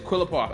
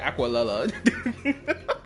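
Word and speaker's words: Qlipoth: I said this name wrong. His name is Quilipof. I said Aquala.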